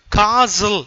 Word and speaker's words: castle: அழகாக சேர்ந்துடும் ஓகே இப்போது CASTLE இதை காசல் என்று உச்சரிக்க வேண்டும் இதில் வந்து அந்த டீ வந்து சைலண்ட் இந்த டீக்கு வந்து உச்சரிப்பு கிடையாது ஸோ எனவே காசல் என்று தான் உச்சரிக்க வேண்டும் காசல் என்பது என்னென்னா கோட்டை